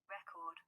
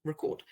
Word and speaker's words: record: So the noun is said record. And then if you scroll down through the verb, you can see there's another pronunciation file and record, and it said record.